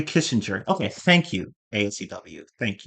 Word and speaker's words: Kissinger: I just, um, oh, the G is pronounced like a J. Henry Kissinger.